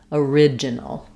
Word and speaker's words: original: For example, in original, letters OR say a schwa plus an R because we're stressing here on the ridge syllable. So if I was saying origin, for example, origin, that follows the same as order and organize, stressed on OR. They go together and say or. In original, we're really starting the stress of that word on the ridge syllable. So then we just have a short little sound, original.